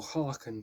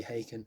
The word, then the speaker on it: Haken: is virus by haken i used to call them or harken because i wasn't ever sure how to pronounce it until i got the live dvd where they actually say hey can which actually makes more sense um also um this